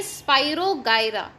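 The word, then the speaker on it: Spirogyra: Pronunciation देखिए, स्पाइरोगायरा grows into a new organism.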